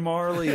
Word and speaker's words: Majerle: game and everybody's like no his name is dan marley like that's just how you say it i'm like no they